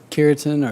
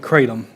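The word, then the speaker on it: kratom: was the how do you say it the keratin or Yeah, it's theratom cratom. And um right now they've released state funds and individuals are taking these feeling like well I've got this anxiety cratom will reduce my anxiety and it's being sold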